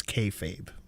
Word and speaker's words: kayfabe: Then they got into a bromance spat that I am not unconvinced is kayfabe by the way. Thank you. Right. I thought about it's kfabe as well cuz I was going to ask Polly before the show what it is.